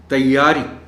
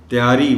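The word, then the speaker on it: تیّاری: لفظ ہے جانب۔ تیاری، یہ پر شد ہے، اور محترم ٹیچر آپ نے بھی دیکھا ہوگا کہ یہ لفظ بہت کم درست تلفظ کے ساتھ سنا جاتا ہے. زیادہ تر لوگ اس لفظ کو تیاری بول جاتے ہیں، یعنی شد کو غائب کر جاتے ہیں.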